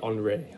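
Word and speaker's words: Henri: that's like andre matisse it's hard for me to say andre i keep wanting to say henry henry is the american way of saying andre but in france they pronounce henry on rey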